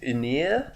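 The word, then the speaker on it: Ynyr: is the old one his name is inir in the film I think is how it's said it's spelled Y in y r which is awful very fantasy yes and a little bit Welsh oh yeah you uh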